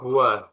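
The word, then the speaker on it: هو: Domir itu adalah contoh hua. Hua. Hua. Hua ini selamanya akan dibaca hua. Jadi kalau ada teman-teman baca kitab kok ada lafaz ha dan wau seperti ini, maka ini pasti bacanya hua.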